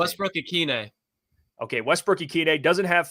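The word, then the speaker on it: Ikhine: Westbrook Ikine.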